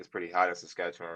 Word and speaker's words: Saskatchewan: See, I didn't even want to pronounce the state name. You said it, but is it Saskatchewan? Yes, Saskatchewan.